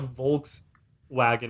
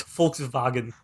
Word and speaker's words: Volkswagen: with a w yeah because like w's in german are pronounced with the v these are pronounced with an f it's it's weird he's not pronounced with the hat but uh yeah okay so like it's not it's not like volks wagon right it's volkswagen oh it's is